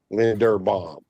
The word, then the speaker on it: Linderbaum: It's Linder, not Linden. Linderbaum.